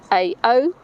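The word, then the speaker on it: Curaçao: That's not the way to pronounce it, but quite rightly or wrongly, I can't do that. It's Curacao.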